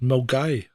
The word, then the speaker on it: Milngavie: Right, so it's spelled Milngavie, Milngavie, but it's pronounced Milgai.